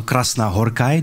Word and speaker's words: Krasznahorkai: that everybody can knows now we can pronounce krasna horai do i it correctly absolut correct you are born in